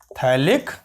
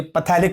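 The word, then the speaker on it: phthalic: Compound को बोलते हैं थैलिक एसिड। थैलिक है ना, कहीं पैथेलिक मत बोल देना, थैलिक acid, PH will be silent, थैलिक acid.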